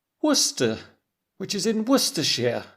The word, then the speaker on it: Worcester: this city in the uk, which is spelled W O R C E S T E R, I might think it's pronounced "Wor-ses-ster", but I would learn that in fact, it's pronounced Worcester, which is in Worcestershire.